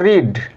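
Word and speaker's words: read: রূপ দিলাম এটাকে বলব রিড রসিডর রিড আর এটা রেড আর এটা রেড পাস্টটা হবে রেড রেড পাস্টটা রেড past পার্টিসিপলটা রেড ঠিক আছে আমরা এভাবে উচ্চারণ করব রিড রেড রেড ঠিক আছে এদের কিন্তু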